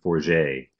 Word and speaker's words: Forget: there's a Canadian economist Evelyn 4j spelled like forget who has done a